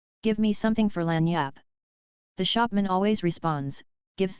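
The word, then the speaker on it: lagniappe: nice limber expressive handy word lanyap they pronounce itlaniyap it is Spanish so they said we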